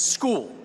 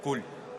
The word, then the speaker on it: Scull: And just for clarity, William, it's Scull, right? We're going to go William Scull with the pronunciation. Para iniciar, se pronuncia tu nombre Scull, ¿no? Sí, así es, Scull. That's right.